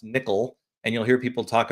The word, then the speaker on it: NCCL: this what's called uh this term nccl it's pronounced nickel and you'll hear people